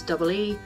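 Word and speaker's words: い: gotta remember that the it's written as I put pronounces EE and this one is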